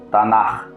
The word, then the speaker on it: Tanakh: A palavra Taná, transliterada da escrita hebraica Taná, e pronunciada como Tanakh, é culturalmente pronunciada fortemente com 2 R's no seu final, e é muitas das vezes escrita ou abreviada através da sigla TNK.